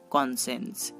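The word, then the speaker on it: conscience: Next SCI, এই তিনটি লেটারও তালবশ র উচ্চারণ করতে পারে, যেমন কনসেন্স, কনসেন্স। দেখুন এখানে আমরা SCI পাচ্ছি এবং তার উচ্চারণ হচ্ছে তালবশ র, কনসেন্স।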